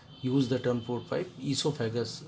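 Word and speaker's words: oesophagus: the term for five esophagus oh is silent here and uh then stomach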